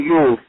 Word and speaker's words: Jul: Norwegian Yule is spelled very interesting, J-U-L.